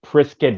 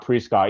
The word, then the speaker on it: Prescott: It's Prescott Valley, not Prescott. Even though it says Prescott, but it's yeah silent in a certain lettering to it.